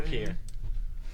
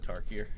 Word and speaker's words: Tarkir: So, he's played flags, sacked flags, searching for Torkir. Did I pronounce it wrong? Yeah, you said Tarkir.